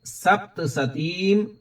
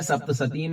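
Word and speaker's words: सप्तशतीम्: तो यशसा वर्धते सोपि कीर्ति मंडित भूतले जपेत सप्तसतीम चंडीम, यहां पर सप्तसती नहीं है, सप्तसतीम है, बिंदु भी है, और चंडी नहीं है, चंडीम है।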